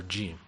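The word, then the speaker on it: ج: Again, Jim, the alphabet, the Arabic letter Jim, which is like G or a soft G.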